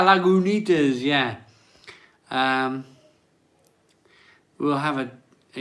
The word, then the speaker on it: Lagunitas: you enjoyed it but isn't it pronounced lagunitas yeah lagunitas yeah um have a